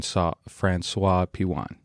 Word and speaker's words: François-Pijuan: your last name how is your last name pronounced uh franois pan Fran franois Pian and where is that from because that's that's